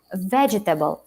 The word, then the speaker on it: vegetable: pronunciation should be correct stress of the words if it is um vegetable it's vegetable not vegetable if it is comfortable it's comfortable not comfortable you know this is